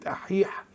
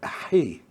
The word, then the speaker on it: أحيه: لكن الإسكندرانية تسهيلا للنطق استبدلوا في كلمة أحيح حرف الهاء بدلا من حرف الحاء، فأصبحت أحيه.